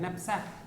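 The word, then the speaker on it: knapsack: They are spread, book में आपके photo दिया होगा स्प्रे करते हुए, ठीक है ना, विद अ KNAP, नैप, के साइलेंट है, नैपसैक स्प्रेयर।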